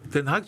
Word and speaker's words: Ten Hag: Oh, Ten Hag, tu l'as vachement bien prononcé. Ouais, Ten Hag, parce que j'étais hollandais il y a 2 ans.